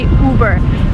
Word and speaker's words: Uber: It, again, you do not follow American pronunciation rules here. You just say Uber.